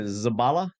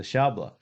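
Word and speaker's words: szabla: saber or the and how do you say the zabala sh shabla sh the shabla it's interesting if true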